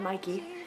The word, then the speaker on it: Mickey: Fusco, and he's tweeting, so I'm saying Mikey, but it's spelled Mickey, so. She asked, shout out to Mickey from Atlanta, so shout out to you, that's actually where I met Mikey.